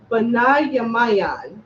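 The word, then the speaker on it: בנימין: In Hebrew, you say Benjamin, Benayamayan.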